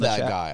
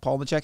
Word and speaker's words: Palahniuk: Chuck, I love Palahniuk. I love that guy. Well, Chuck Palahniuk, and I'm probably butchered his last name.